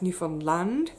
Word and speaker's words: Newfoundland: the east in newfoundland got to get the pronunciation correct newfoundland and it kind of blew my mind he